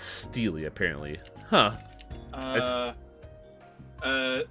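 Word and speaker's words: stele: stupid don't you agree Stella is pronounced Steely apparently huh uh uh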